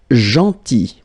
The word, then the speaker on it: gentil: Then gentil. So remember this final L is not pronounced.